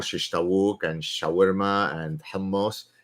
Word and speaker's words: hummus: tawuk and shawarma and hummus. It's hummus. It's hummus. It's not Hamas. It's not Hamas. It's not hummus. It's hummus. If you don't pronounce it properly, don't effing eat it.